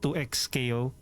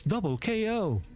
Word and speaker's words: Double KO: It's not 2x KO. It's double KO.